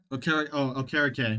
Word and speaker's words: Okereke: Okereke.